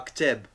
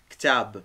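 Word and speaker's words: كتاب: Alors, mais ktab. Si on met un A, forcément, nous, on va prononcer ktab. Et c'est pas ça.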